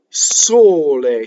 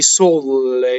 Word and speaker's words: sole: Il sole. So there's nothing new in any of these words that we haven't covered already, right? We have all single consonants. So you can't say sole with two L's. Sole.